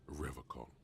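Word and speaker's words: Revachol: I've been tempted on occasion, but he pronounces Revco with a hard K, unlike other people.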